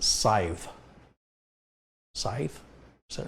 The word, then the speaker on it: Scythe: It's pronounced Scythe. Scythe? Is that right? Scythe like wife.